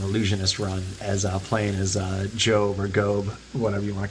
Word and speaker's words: Gob: Playing as Job Bluth. Gob. Job. I love it. It's spelled Gob.